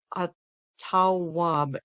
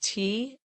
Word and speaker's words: Tawwab: That divine name is Atawab. It's spelled Tawwab in the transliteration, and it really means it's a forgiveness.